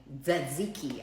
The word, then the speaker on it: Tzatziki: Tzatziki, apparently the T is silent.